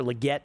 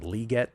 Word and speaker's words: Legette: If he wants to pronounce his name legette, I'm just going to have to disagree.